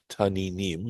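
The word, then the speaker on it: תנינם: So notice how this word is pronounced taninim, right? Sea monsters. But notice normally there'd be a yud here between the nun and the mem to indicate that it's pronounced imnim, right? As a plural.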